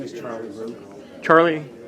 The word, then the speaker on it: Rau: My name is Charlie Rau. Charlie? Correct, Rau, R-A-U. R-A-U, okay. And we pronounce the last name Rau.